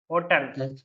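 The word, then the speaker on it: hotel: ली एक वर्ड है एच ओ टीई एल इसको कैसे प्रोनाउंस करोगे आप हस्टल होटल होटल होटल होटल कोई होटल बोलेगा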